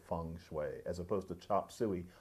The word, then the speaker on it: feng shui: that if people had talked about feng shui in 1910 it would be Fang chili or something like that now we try to say feng shui as opposed to chop